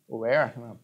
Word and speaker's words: Ayer: Aya, por exemplo, lembrando que esse é o nosso texto base, né? Aya, ou Ayer, na pronúncia mais correta, vai defender justamente que